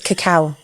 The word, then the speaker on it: cacao: chocolate say that again cacao nibs it's not cocoa nibs it's cacao I'm saying it right